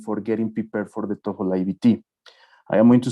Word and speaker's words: TOEFL: And just to double check, because some Monterrey schools have the TOEFL, whatever, it's TOEFL. The TOEFL, just to standardize the pronunciation.